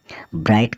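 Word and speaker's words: bright: की ओर जिस ऐसे वर्ड्स जिसमें जी एच साइलेंट रहने वाला है सबसे पहले हम बात करें बी आर आई जी एच टी ब्राइट का अर्थ होता है चमकीला फिर हम बात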